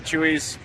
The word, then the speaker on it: Chuy's: to come out to Chuy's great stuff yeah it's not chewy food by the way it's spelled differently yeah Spanish good morning it is